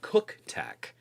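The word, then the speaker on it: CUKTECH: I did take the Cook design, Cook Tech. It's CUK, but it's not pronounced in that other way.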